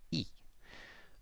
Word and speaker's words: y: to know that word it's spelt Y and it means and and it's pronounced e remember when we said